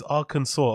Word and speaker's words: Arkansas: Because that's not saw. You guys are laughing at me and saying saw, but those three letters do not phonetically sound like saw.